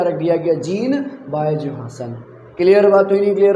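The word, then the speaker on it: Johannsen: तो सीधा सा जवाब है जोहासन ने, इसको जॉनसन हम लोग कह देते हैं बट ये जोहासन प्रोनाउंस करो ज़्यादा बेहतर है, ठीक है।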